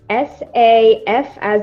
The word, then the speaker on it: Safa: Yeah, well, firstly, my name is Safa. It's S-A-F as in frog, A. And I pronounce it Safa, but it's pronounced many different ways by many different people.